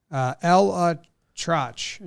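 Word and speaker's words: ElAttrache: Elatrosh is how they say it.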